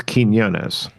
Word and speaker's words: Quiñones: It's Quiñones. Quinones. So it's like a K. It starts with a K, like a K sound. Keen, Yeah. yo, ness.